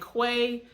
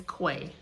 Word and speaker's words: Cuay: that's that acronym and I felt like saying Quay and way would be a good way for others to understand how to pronounce the word cuz sometimes people get a